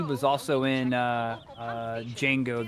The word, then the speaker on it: Django: And then uh after that he was also in uh uh Django the D is silent which was another Tarantino movie.